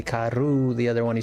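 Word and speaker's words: caro: I'm saying it Englishified, but the pronunciation in Portuguese ku. Well, it's the same thing. K. You would say if you're saying fast, you'd say car, but like if you're pronouncing it, it would be ku.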